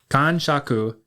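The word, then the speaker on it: kanshaku: Kan shaku is spelled k a n s h a ku. And Khan Shaku is relevant to today's episode because we got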